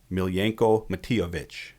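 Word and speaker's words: Miljenko Matijević: And I'm going to say the guy's name right now, Miljenko Matijevic. That's awesome.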